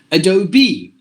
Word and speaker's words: Adobe: there are so many softwares it should be Adobe and this is hyperbole this R is mute